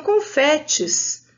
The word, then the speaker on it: confete: com a sílaba fe mas na hora de ler a palavra o som do e é aberto mas professora não tem